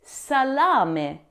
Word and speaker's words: salami: Now the incorrect pronunciation here is the correct pronunciation is salami.